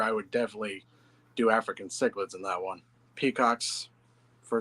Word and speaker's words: cichlids: feet or longer, I would definitely do African cichlids in that one. Peacocks, for sure. African chicklets. Yep. That's how my dad pronounces it.